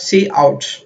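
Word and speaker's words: cout: we call this associate we pronounce it as C out so this is a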